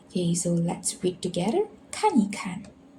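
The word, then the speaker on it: 看一看: To show an action, it becomes soft and neutral. So for example, 看一看. Kan is actually look, so it's an action, so it's a verb, so it's in between these two same verb. We change the E into neutral tone, so just read it softly.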